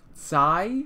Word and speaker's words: Tsai: So instead of Kai Dynasty, someone said it's more like a soft C sound, more like Tsai. So Tsai Dynasty.